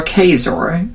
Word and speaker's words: Kaczor: Christopher Kaczor, whose name rhymes with razor, to talk about the issue of abortion.